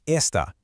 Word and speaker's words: esta: Take esta, pronounced e s t a.